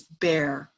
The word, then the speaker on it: Bayer: by michelle and bear it's not pronounced bayer in germany where the company is it's bare and midacloprid is the